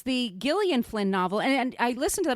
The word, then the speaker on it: Gillian Flynn: littleit episode Margo and I kept calling her Jillian Flynn so that's another reason for us to redo it so I could pronounce her name properly but this I was